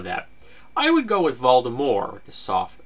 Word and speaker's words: Voldemort: with a soft R seeing as how the word is apparently French I didn't even know that I would go with Voldemort with the soft R